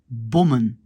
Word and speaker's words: bommen: Eh ben, ici, le O, parce qu'il n'est pas ici vers la fin, il est au milieu du mot, il doit être fermé par deux M pour qu'on le prononce encore comme O. On prononce bommen.